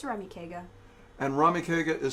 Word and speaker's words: Ramekega: YouTube channel is what it's rummy kegger and Rahmi kegger is spelled I know this one ra m EK